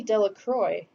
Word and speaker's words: Delacroix: harry jones and dickie de la croix the villagers pronounced this name delacroix eventually made a great